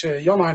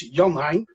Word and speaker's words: Jan-Hein: As you mentioned, my name is Jan-Hein. Most foreign people think my name is Jan, but it's not. It's actually a double name. It's Jan-Hein. Jan-Hein.